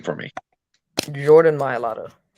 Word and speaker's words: Mailata: Can you pronounce his name for me? Jordan Mailata. Mailata.